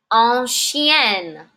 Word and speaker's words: ancienne: Ancien. Ancienne. Same pronunciation.